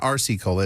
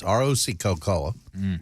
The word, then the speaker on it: RC Cola: if you're the South it's not RC Cola it's Roc Co Cola that's how you say it and it's actually